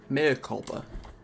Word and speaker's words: mea culpa: Mea culpa. Okay. Mea culpa is the way that we pronounce it.